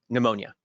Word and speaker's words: pneumonia: I do my reasonable accommodation seminar is the pneumonia is pneumonia a disability I don't want to embarrass you but it's pronounced oh thank you that's why has got